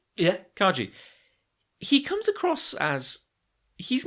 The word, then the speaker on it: Kaji: I'm going to get his name wrong again. Kaji? Yeah. Kaji.